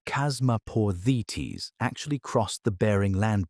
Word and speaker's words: Chasmaporthetes: One of them, Chasmaporthetes, pronounced Chasmaporthetes, actually crossed the Bering Land Bridge into North America.